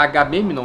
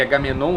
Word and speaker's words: Agamemnon: Aquiles manifestou sua ribe, sua fúria, a Agamemnon na pronúncia grega e Agamenon na pronúncia latina, porque a sacerdotisa, que foi pega como escrava sexual, foi retirada dele e dada a Agamenon.